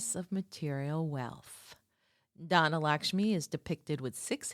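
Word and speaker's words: Dhana: By the way, Donna, the second form of Lakshmi is spelled D H A N A.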